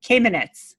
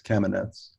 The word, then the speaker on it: Kamenetz: Or Kamenetz? No, it's not. No, it rhymes with cabinets, so it's Kamenetz.